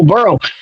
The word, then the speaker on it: Burrow: I don't see how the Bengals are at fault for Burrows getting hurt. And it's Burrow. Please spell it correctly.